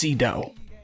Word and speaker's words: Sydow: I think I've always heard it pronounced Cedo.